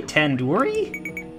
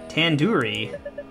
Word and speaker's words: tandoori: Surely you at least recognize tandoori chicken. You're saying it wrong. Wait, really? Tandoori? Tandoori. The do isn't like door. It's like dodo head.